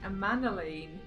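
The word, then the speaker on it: Emmanellain: That's how you say his name, Amanalain.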